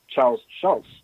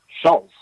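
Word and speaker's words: Schulz: It's not Charles Schultz. It's Charles Schultz. There's no T in it.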